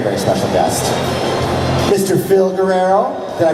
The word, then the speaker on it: Guerrero: Phil Guerrero. Did I pronounce it right? Yes, that's right. Okay. Phil. Well, it sounds more like Phil Guerrero.